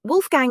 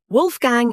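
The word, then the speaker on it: Wolfgang: In German, W is pronounced like the English V. Wait, so Wolf Gang is actually Wolf Gang. Yes. Wolf Gang Amdus Mozart has been mispronounced by the entire English-speaking world.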